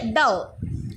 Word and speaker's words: dough: डव, D-O-U-G-H, डव. इसे हम pronounce करेंगे डव.